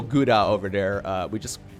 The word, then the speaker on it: Gouda: America call this, like, Gouda. Look, guys, we don't pronounce that Gouda over here, okay? You want to hear the Dutch pronunciation of whatever that means, okay? Here it is. Gouda. Gouda.